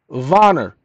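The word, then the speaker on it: Werner: Richard Dick okay William voner pronounced with a V spelled with a w w e r n e r you'll hear the pronunciation in a moment hold on Richard Veron Richard when you think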